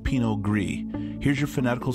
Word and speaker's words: pinot gris: it is also called pinot gris here's your fanatical spelling for pinot gris notice that the s is silent pinot gris is a dry wine